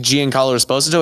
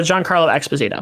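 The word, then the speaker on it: Giancarlo Esposito: that Sidewinder played by Gian Carlo esposo is that how you pronounce it uh John Carlo exposito yeah John Carlo yeah John Carlo so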